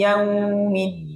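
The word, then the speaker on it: يوم الدين: Din itu samping Maliki yaumiddin bersama-samaiki yaumiddin hati-hati jangan medok kalau orang Jawa medok dalnya jadi middin nah kalaura enggak ya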